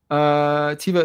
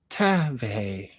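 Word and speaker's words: Teva: Tiva is actually pronounced Tave.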